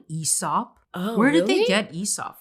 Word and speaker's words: Aesop: That's how you pronounce it, guys. Aesop. I thought it was Aesop personally. personally. I'm still going to say Aesop. I'm sorry. Me too. Honestly, Aesop just does not sound right.